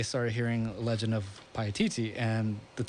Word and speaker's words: Paititi: Okay, Fernando, the lost city of Paititi. Did I say it right that time? Correct. Paititi.